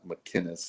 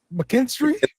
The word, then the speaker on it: McKinstry: pronouncing it wrong because it's not McKinnis or what it's help me out mckinstry mckinstry yeah that sounds like me